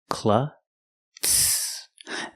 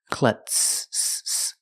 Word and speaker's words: klutz: Klutz. The Z is not pronounced with the voiced Z sound. It's pronounced with the S sound with no voice. Klutz.